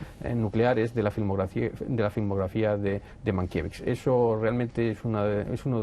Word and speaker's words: Mankiewicz: porque se habla mucho en las películas de Mankiewicz, o Mankiewicz, que diremos, lo pronunciaremos de las dos formas los americanos diferentes.